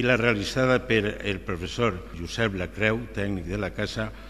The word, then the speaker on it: Josep: Per posar un exemple, les solucions recomanades en la pronunciació de Joan i Josep són pronunciar-les com a U en lloc de O.